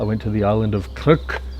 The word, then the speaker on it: Krk: I went to the island of Kirk, not to be confused with Cook Island.